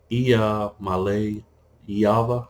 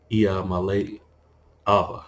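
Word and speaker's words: Iamaleava: It's Iamale Iava. I think I pronounced his name Iamale Ava. I think I got it right.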